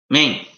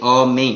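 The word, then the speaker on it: אָמֵן: He has to say, pronounce the word Amen properly. He shouldn't say main. Sounds like main. He should say Amen. He should say the full word. He shouldn't swallow the aleph of Amen.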